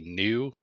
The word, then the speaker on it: gnu: water ritual with a new a g how do you pronounce that I don't know uh like the hoofed mammal like GNU is new it's a a silent G okay I did it